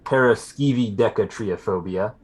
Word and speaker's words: paraskevidekatriaphobia: didn't say it wrong it should be paraskevidekatriaphobia okay a in place of an eye at one point a very poor form